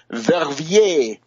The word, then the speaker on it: Verviers: It is continuing in the sense the turmoil and the agitation in France, Germany, Netherlands, and Belgium, in particular the town of Verviers, V-E-R-V-I-E-R-S, Verviers.